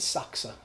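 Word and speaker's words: Sachse: loved the socks book saksa s-a-c-h-n-c he would pronounce it saksa i guess in an italian that's you pronounce the e anyway and he would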